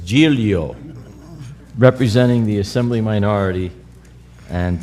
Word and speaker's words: Giglio: Additionally, we are pleased to be joined by Assemblymember Joseph Giglio, representing, you notice how I pronounced that? So you don't say it's not Giglio, it's not Giglio, it's Giglio, representing the Assembly minority,